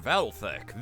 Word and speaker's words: Valthek: It's pronounced Valthek. The L is reverse silent.